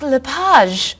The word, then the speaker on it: Lage: just a few minutes is your last name pronounced leage it's leage actually oh that's beautiful thank